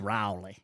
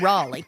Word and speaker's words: Raleigh: North Carolina I said I said Raleigh once and they were like no you don't it's rowy it's Raleigh uh Mike righ uh but